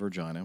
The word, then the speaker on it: Regina: 1200 feet out of Regina when the aircraft was and yes that is the way you pronounce this uh the name of the city uh was 1,200 feet